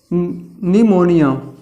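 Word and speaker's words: pneumonia: निमोनिया, इसको लिखते हैं पी से, लेकिन पी जो है साइलेंट होता है।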